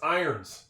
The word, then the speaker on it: irons: It's irons. That's a silent O.